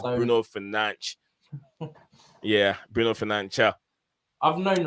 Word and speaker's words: Bruno Fernandes: It's Bruno Fernandes. Yeah, Bruno Fernandes. I've known the right pronunciation for a while.